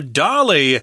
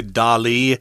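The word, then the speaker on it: Dalí: one such famous person was the artist Salvador Dolly who designed their brightly colored daisy-shaped logo I think sometimes people say Dolly I say Dolly I think most people say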